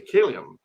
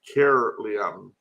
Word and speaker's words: Caerleon: And from there, I went to Caerleon. It looks like Caerleon, but the people there pronounce it Caerleon, which was one of